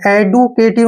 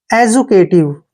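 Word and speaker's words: educative: Next word देखिए, इसको हम क्या पढ़ेंगे, एडुकेटिव नहीं पढ़ेंगे, ई का उच्चारण क्या करते हैं, ए, और डी यू को क्या पढ़ेंगे, जू, देखिए जब भी डी के बाद यू आता है तो डी का उच्चारण जय करते हैं, इसलिए हो गया एजू, ठीक है।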